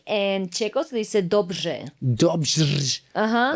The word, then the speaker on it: dobře: Y en checo se dice dobře. Dobře. Ajá. O sea, es el j con la r. Ajá, es combinación ž y r.